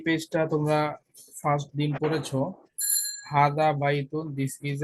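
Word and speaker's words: هذا: আমরা একটা নোট করেছি, নাম্বার 1, হাজা, হাজা is pronounced হাদা, but it is written without the first alif.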